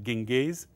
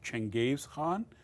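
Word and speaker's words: Genghis Khan: but no connection Hey European pronounce his first name as Genghis but his real pronunciation is Chang Games Han doesn't matter whether you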